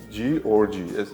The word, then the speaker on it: G Orgy: ვინც იცის ორ წერია ORGY ანუ Georgi ესე ასოცირდება და ჩამიჯდა ეს ტვინში იმიტომ რომ იცი რა არის რაღაცა თითქოს პოდნოზე მორთმეული ინტრიგა არის ოღონდ ამავდროულად pronunciation-ი არის ჩემი სახელი სხვანაირი სპელინგი არის უბრალოდ სხვანაირად იწერება თორე გამოითქმის როგორც ჩემი სახელი გავაკეთეთ ეს ესეთი საინტერესო